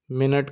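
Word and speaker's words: Minute: होती है डी स्टुंडडन मिनट को जर्मन में कहते हैं डी मिनूटे आपने गौर किया होगा दोस्तों कि मिनट के स्पेलिंग जर्मन में भी सेम है लेकिन सिर्फ बोलने में फर्क है डी मिनूटे और इसकी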